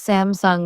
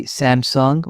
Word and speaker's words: Samsung: Some pronounce Samsung with stress on the second syllable. Koreans say Samsung with equal emphasis.